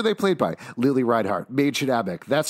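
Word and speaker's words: Mädchen Amick: Lily Reinhart, Maid Shadabek. That's how you pronounce her name.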